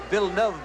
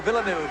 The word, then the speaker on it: Villeneuve: the number 76 car it's pronounced vilnov by the way but for our American audience of course we are all accustomed to Villeneuve there he is the